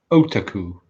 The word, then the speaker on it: otaku: And it's actually otaku. That's the Otaku. correct pronunciation. Otaku.